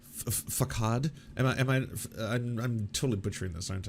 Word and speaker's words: façade: It's a soft C. Facade.